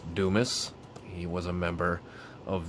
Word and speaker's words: Dumas: kenny anderson once again anderson's amazing achievements richard dumas is how you pronounce that you might pronounce it another way uh but it is pronounced dumas he was a member of the phoenix suns